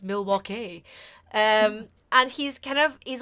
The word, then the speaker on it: Milwaukee: them facts about Milwaukee it's pronounced Milwaukee and he's kind of